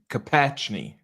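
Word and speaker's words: Kopechne: Mary Jo, I don't know how to say her last name. Say it again? Yeah, that's how you say it. Kapachny, yeah. Kapachny.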